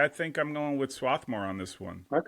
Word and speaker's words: Swarthmore: think I'm going with Swathmore on this one. Okay. Sworthmore or however we How do we properly pronounce that? Oh, Swarthmore.